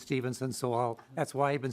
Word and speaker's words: Stephenson: Chair, it is Stephenson. And Representative Macklin, I've had the same issue. You look at the way his name's, I know people that pronounce it Stephen, but he says it's Stephenson, so that's why I've been saying it that way.